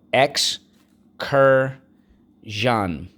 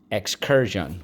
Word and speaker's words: excursion: hermit excursion let's go x cur john excursion we use the er like in nurse so let's go for syllable x second syllable cur third syllable john excursion all right so how